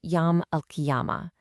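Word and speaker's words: Yawm al-Qiyamah: Okay, so let's get the term right. It's pronounced Yam Alkiyama.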